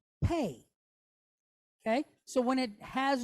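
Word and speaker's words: פּ: But when it does have a dot, it's called the letter Pe. Okay? So you have Fe and you have Pe.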